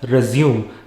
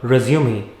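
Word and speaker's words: résumé: Next is resume, which is often mispronounced by many people as resume. Please do not send me your resume if you are applying for a job. Send me your resume. It is a French word.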